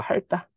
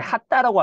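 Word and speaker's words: 핥다: 리을 티읕 같은 경우에는 뭐 할다. 근데 핫다라고 하는 거 어떻게 해요? 할다라고 하죠? 그래서 이건 리을이 발음 나고요.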